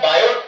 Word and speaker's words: Biot: का नाम था बेटा बायड और सर्वर कौन लोग आए होता है तो बायो और सर्वर का जो डॉ बंता है बायोडाटा है टी को हमको साइलेंट में रखना है इसके लिए कम